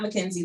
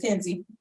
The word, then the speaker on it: Kenzie: Kenzie, just spelled like Mackenzie, Kenzie. It's not Mackenzie though, it's just Kenzie.